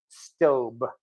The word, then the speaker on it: Staub: stain so I definitely like that also I'm pronouncing it stobe I got it off of their own website